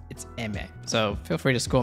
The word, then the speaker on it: Aimer: I said her name wrong. According to Google, it's Emmet.